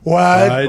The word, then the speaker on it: Wydoe: Wide. Wide. I think so. That's what he said.